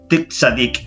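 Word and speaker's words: צדיק: Entonces la palabra justo es tzadik, ¿cierto? Así se pronuncia, ¿ya?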